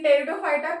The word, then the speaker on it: Pteridophyta: Here in Pteridophyta, P is silent.